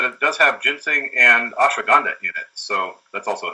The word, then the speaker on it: ashwagandha: A lot of people are familiar with ginseng, and more and more people are becoming familiar with ashwagandha.